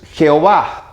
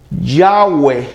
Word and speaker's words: Jehová: Con J, aunque algunos dicen que la J no existía antes, sino que era la Y, y en realidad es Ja.